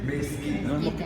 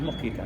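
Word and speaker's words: mezquita: mosquita Okay cómo se cómo se dice mesquita no es mosquita no Entonces está escrito que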